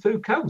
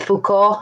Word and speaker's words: Foucault: Which is, fuck all, right? Foucault. Fuck all.